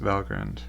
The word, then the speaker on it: Valgrind: it turns out that this is a term from norse mythology and it is indeed pronounced valgrind and this is a